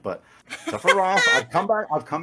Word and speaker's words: Sephiroth: But I was like, no, in katakana, because I was like learning Japanese when Advent yeah, Children came out. I was like, yeah. no, but it says it's an O sound. But Sephiroth, I've come back.